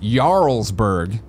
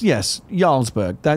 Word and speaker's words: Jarlsberg: Capitalist Pig says re-cheese, it's pronounced Jarlsberg. Think Skyrim. No, that's right. Yes, Jarlsberg. Now that I hear it said that way, that's quite correct. Jarlsberg.